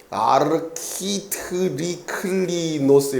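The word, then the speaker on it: ἀρχιτρίκλινος: 자, 그 앞에 물이 포도주로 변하는 그 가나의 혼인잔치 사건에 있어서 연회장이라고, 연회장, 그 단어가 발음이 되게 어려워요. 아르키트리클리노스 이렇게 돼요.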